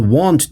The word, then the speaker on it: Wand: I drop in the wand tool. In German pronunciation, this sounds like Wand, and it means wall.